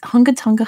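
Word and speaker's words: Hunga Tonga: johnny we got it it's um tonga it's hungatanga hunga pai hangatanga like i i learned how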